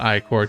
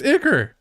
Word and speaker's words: Iker: It is not I-Court. Dude, I hate when my kids pronounce like that. It's Iker! Isn't it? I swear to God, it's Iker.